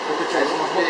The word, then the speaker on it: Pothichoru: Am I pronouncing it right? Pothichoru. Pothichoru.